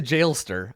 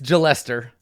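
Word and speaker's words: Jalester: do we have it is it Gillette sir rhymes with molester or is it jail ster rhymes with hailstorm let's see listen I'm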